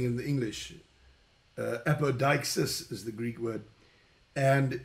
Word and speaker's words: apodeixis: The Greek language is, the way you would pronounce it in English is odikesis. In the Greek language, I'm just saying in the English, apodeixis is the Greek word, and it's translated as making manifest.